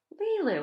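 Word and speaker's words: Lilou: she heard me and said lee lou am i saying it right that's a lovely name lilu lila i think she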